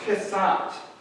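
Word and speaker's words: חֶסֶד: And there is a word, it's pronounced chesed.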